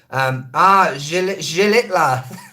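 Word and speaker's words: Xilitla: Zilitla? I can never do the X. The H is silent. In what? I'm lost. Tamul waterfall, that is a definite, absolute 100,000,000% gonna happen. Zilitla.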